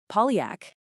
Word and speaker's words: Pauillac: Let's get the pronunciation right, because it's key. We've got Margaux, Saint-Julien, Pauillac, and Saint-Estèphe.